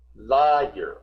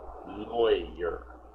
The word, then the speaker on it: lawyer: at the word lawyer the way it's spelled makes you think lier because this is law year but in America we kind of pronounce it like it was if it if it would have been spelled this way lawyer lawyer not lier lawyer lawyer programmer engineer F